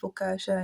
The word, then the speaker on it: focaccia: So they teach me that it's pronounced focaccia and maybe new Norwegian, not fluent, but Norwegian I knew good.